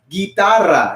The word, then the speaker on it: guitarra: have a guitar okay in spanish you can pronounce it as guitarra everybody try that okay but now we have